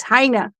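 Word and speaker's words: Heine: Well, It's like hine beer but not the can. It's hina. So leave the can off.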